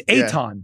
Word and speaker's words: Eytan: It's Eitan. Yeah. He literally said pronounced Akon, but with a T. He literally wrote it in the email. He said pronounced Akon. Yeah, Akon with a T. So it's Eitan.